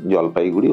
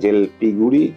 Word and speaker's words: জলপাইগুড়ি: জন্য এই জায়গাটির নাম জলপাইগুড়ি হয়েছে, এবং সাহেবরা সেটাকে জেলপিগুড়ি, জলপাইগুড়ি এইসব উচ্চারণ করতেন।